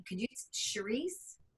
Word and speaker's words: Charisse: do you say your name can you use Cherise Cherise Oh bingo okay I had actually requested your